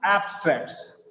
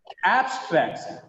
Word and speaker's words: abstracts: But in the second case, abstracts, the becomes here ab because it has got the stress. It is not up here, it is ab.